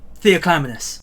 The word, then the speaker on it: Theoclymenus: Sorry, you're gonna have to help me with pronouncing your name. Oh, Theoclymenus.